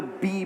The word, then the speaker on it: BE: so let's first begin by talking about be I just want to clarify again it's spelled be but the brand is pronounced B and when we talk